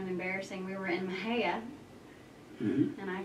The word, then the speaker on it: Mexia: I've heard of Mahia all my life, and I've seen the sign that says Mexia, and I've never put those two together.